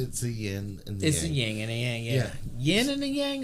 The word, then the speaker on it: yin: Well, it don't have a G on it. You always pronounce it yin.